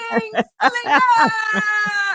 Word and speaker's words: Bling Slinger: Bling Slinger.